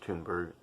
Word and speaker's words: Thunberg: It is pronounced Thunberg.